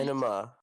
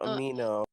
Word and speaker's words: Anima: Anima, not Amino. And actually, it would be Anima because there's an accent on the A.